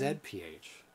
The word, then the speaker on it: ZPH: It says ZPH across across the front, and it is pronounced ZPH. We are Canadian.